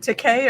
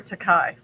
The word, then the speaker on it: Takei: But anyway, the funny thing is, George, is it Takei or Takai? Takei? Yeah, Takei. It rhymes with toupee.